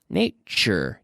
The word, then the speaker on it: nature: say choo choo choo Nate sure Nate sure nature tu shoot but it's choo-choo nature mixture repeat